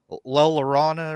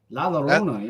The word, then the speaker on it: La Llorona: I can't pronounce her name right. La Llorona or something Oh, La like that. Llorona. Yeah, no, yeah. Yeah. Llorona. La Llorona, yeah.